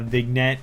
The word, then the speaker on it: vignette: A vignette is the proper pronunciation of the word.